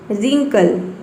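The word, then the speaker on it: wrinkle: आपको समझना है कि डब्ल्यू जो है वह साइलेंट है। Right, rap, wrapper, रिंकल, रीस्ट।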